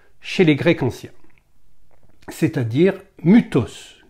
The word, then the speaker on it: mythos: les Grecs anciens, c'est-à-dire Mutos qui s'écrit mythos bien sûr my thos.